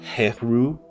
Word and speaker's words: Horus: Horus. Uh but like I said, uh the Greeks like to add us to the end of names. So, uh in the original Egyptian, it could have been uh heru or just So, just Yeah.